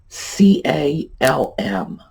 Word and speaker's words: calm: All right, first word, C-A-L-M, peaceful, serene. It's got to be a word in everyone's everyday vocabulary. How do you pronounce it? All right, it's calm. You do not pronounce the L.